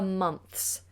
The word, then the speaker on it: months: Months, months, months. Tongue out and then back in.